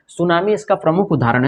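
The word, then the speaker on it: tsunami: इसका प्रमुख उदाहरण है सुनामी में सुनामी की जो स्पेलिंग होती है वो टी से होता है क्योंकि एस के पहले टी आया है तो इसमें टी क्या हो जाता है साइलेंट हो जाता है ठीक है ना उसी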